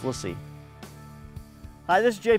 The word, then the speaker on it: LaCie: It's not "Lassie," like the dog, but it's pronounced "lah see." LaCie. So when you hear me say it wrong in this video, my apologies, it's "lah see."